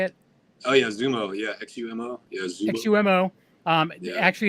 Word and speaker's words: Xumo: Oh yeah, Xumo.